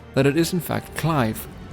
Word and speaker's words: Clive: heard some people including that night sky prince pronounce it as cleave or something which i actually think isn't so bad but the japanese version of the website seems to confirm that it is in fact clive not trying to throw any shade on the